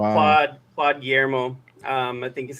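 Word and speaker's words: Guillemot: Oh, gimon. That's French. Gimo. Yeah, Gimo.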